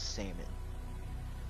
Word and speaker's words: salmon: Last thing I cooked was salmon. Back in May. With an L or no L? No L.